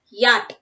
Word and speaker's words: yacht: Here CH is silent, so we have to pronounce this as yacht. Yacht. Okay, yacht. Yacht ennu parayirudhu, that is wrong. Yacht, because CH is silent there. Yacht.